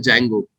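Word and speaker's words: Django: अगर आप जेंगो, है ना, जिसे डी जेंगो कहा जाता है एक्चुअल में, ठीक है, but actual spelling is जेंगो, sorry actual pronunciation is जेंगो, spelling is डी जेंगो, बट जेंगो या फ्लास्क अगर आप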